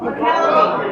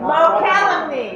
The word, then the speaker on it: Mokelumne: Mokelumne. The what? The what? Mokelumne. The Mokelumne, yeah. It's a little hard to pronounce.